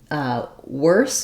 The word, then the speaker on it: worse: So worse is like the word were, as in we were, plus an S sound.